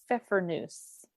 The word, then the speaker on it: Pfeffernüsse: So I made, for my cookies that I chose, and again, this could be an interesting pronunciation. I made Pfeffernüsse.